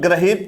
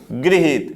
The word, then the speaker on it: गृहीत: भी पूछा जाता है आप लोग graheet पढ़ते हो और ऐसे लिख देते हो ग्राहक तो ये गड़बड़ है गलत लिखा हुआ है यह सही कैसे लिखा जाएगा गृहीत होता है तो इसका उच्चारण हम लोग कैसे करेंगे gruhhit ये भी पूछा गया